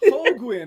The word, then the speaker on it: Holguin: Yes, and thanks for pronouncing that last name correctly because I do get Ho- Julian quite often. Holguin, we were talking about that, how our names get mispronounced all the time.